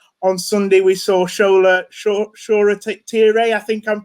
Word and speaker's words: Shoretire: i'm pronouncing it right i've seen about three different pronunciations of his name so i hope i'll get it right sure a t-ray is what i'm going to go with and first of all